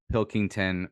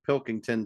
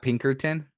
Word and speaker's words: Pilkington: little bit this year it's not Pinkerton no it's not Pinkerton but uh yeah Pilkington had a great season